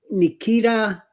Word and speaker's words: Nikita: Nikita Khrushchev. And you know what? That is how you pronounce it, because remember, CW had this girl battle person. Her name was Nikita, and she spelled it the same.